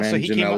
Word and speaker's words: Manganiello: I don't know how to pronounce his name. Yeah, Manganiello, so he came out on stage and he